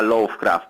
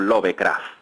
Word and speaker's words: Lovecraft: Howard Philip lovecraft Bueno ahora digo lovecraft porque me me dijeron que no pronunciaba bien yo ya sé que se llama love of Craft pero en España lo conocemos como lovecraft entonces bueno es eh